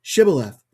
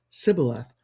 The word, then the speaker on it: Shibboleth: When he said no, they said to him, Then say Shibboleth. And he said Sibboleth, for he could not pronounce it right.